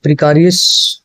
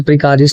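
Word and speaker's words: precarious: Again antonym पूछा है, प्रिकारियस। ठीक है, अच्छा प्रिकारियस नहीं हो, इसकी प्रोनाउंसिएशन क्या हो जाएगी, प्रीकेरियस।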